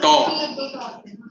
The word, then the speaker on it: tau: this called tau. क्योंकि table के ऊपर जाना है This is how you pronounce it, tau.